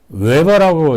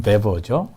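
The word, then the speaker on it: Weber: 웨버라고 있기도 하고, 이제 독일 발음은 베버죠. 독일 사람이니까.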